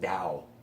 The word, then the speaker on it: Tao: or TA oh but even when it's spelled TA oh it's pronounced Dow Taoism now what is